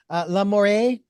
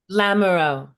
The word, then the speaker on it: Lamoureux: I just want to remind our listeners, we are talking with Denise Colette, and I want to get the last name pronounced correctly. Lamoureux. Lamoureux. Lamoureux. Okay, with an O.